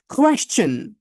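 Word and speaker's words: question: পরে সবাই উচ্চারণ করেন ওকে নেক্সট পরের ওয়ার্ডটার উচ্চারণটা সবারই কিন্তু কম বেশি ভুল হয় সেটা কি জানেন এটা হচ্ছে কোশচেন কোশ্চেন আমি বলেছি আবারো বাংলা দেখবেন না এখানেযে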